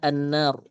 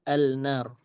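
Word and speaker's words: النار: Nah, jadi huruf lam ini dididghamkan ke huruf setelahnya. Jadi bacanya annar bukan alnar seperti itu.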